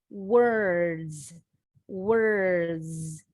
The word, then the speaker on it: words: Word ends with the D consonant sound. When we add a final S, the S sounds like a Z. Words, words.